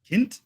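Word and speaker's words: Kindt: K Reeves and Matt it's spelled k k i n DT Kint Kint Kint yeah and then the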